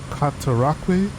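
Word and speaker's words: Cataraqui: the site known as kataraki uh or katarakway that's how it's best pronounced uh the outpost called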